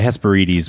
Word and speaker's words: Hesperides: it we're uh Heaven I always pronounced that wrong I say Hesperides oh yeah hesperidis would be the Greek so they uh Hercules